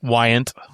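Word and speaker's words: Weyandt: How'd you pronounce his name? Wyant.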